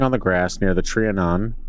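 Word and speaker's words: Trianon: A woman sat sketching on the grass near the triionan. Trian, is that better? That's not That is not better. Tryonan, you got it.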